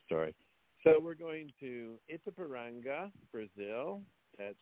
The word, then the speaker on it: Itapiranga: anyway that's another story so we're going to it's a paranga Brazil that's spelled i t a p i r a n g a it's a paranga Brazil the years are 1994 through 19 1898